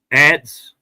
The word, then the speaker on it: adze: How was it pronounced? Ants.